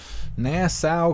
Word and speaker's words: Nassau: thank you so much Nassau County okay so that's how you say it actually I wrote it down I wrote it down all broken up so I could remember how to say it it's like that